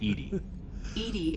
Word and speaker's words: EDI: why are you named edie is the phonetic pronunciation of edi that is an acronym for enhanced defense intelligence where are you my